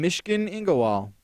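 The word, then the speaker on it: Myshkin Ingawale: No, you could in Mishkin Ingowal.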